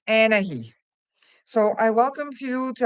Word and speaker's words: Anahi: For those of you who have a hard time to pronounce it, she's pronounced Anahe.